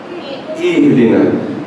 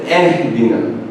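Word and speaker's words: اهدنا: Ihdina. So I've heard a lot of people say Ehdina. It's not E. No, there's no E.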